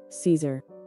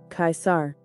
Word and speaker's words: Caesar: the English pronunciation is Caesar Caesar Caesar In classical Latin the pronunciation is kaisar kaisar presenting the meaning